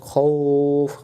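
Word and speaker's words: خَوْفٍ: এখানে খৌফ, খজবর খ, খজবর খ, বলেন খজবর খ, তাহলে খৌফ, খাউফ না।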